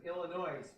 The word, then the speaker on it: Illinois: they always pronounce it illinois they go no no no no illinois drop the s let's find out only